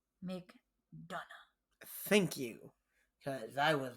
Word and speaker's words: McDonagh: Breaker versus JD McDonagh. McDonagh.